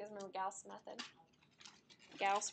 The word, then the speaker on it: Gauss: Gauss rhymes with mouse.